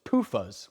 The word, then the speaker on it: PUFAs: Group A's muffins were made with polyunsaturated fats, also known as PUFAs, which sounds like the word fupa, which is a funny word.